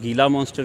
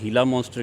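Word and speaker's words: Gila monster: उसको कुछ लोग गीला मॉन्स्टर कहते हैं, या उसको प्रोनाउंस करने के लिए हीला मॉन्स्टर कहते हैं।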